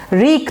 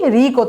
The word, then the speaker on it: wreak: এখন দেখেন diabolic ডুওটা রেক, একই মনে হচ্ছে দেখতে বা শুনতে, হ্যাঁ, কিন্তু এটার উচ্চারণটা একটু আলাদা।